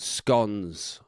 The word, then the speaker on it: scone: Britain about scones or scones. Right. Oh, how do you pronounce it? There we go. We're into controversy straight away. So it's spelled Scones, scones or scones. Right. And Irish people say scones.